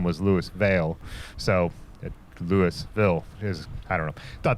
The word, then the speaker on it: Lewisville: Aaron came up with a loop that would take us out to Lewisville, Ohio. And yes, in Ohio it's pronounced Lewisville, not Louisville, like down south.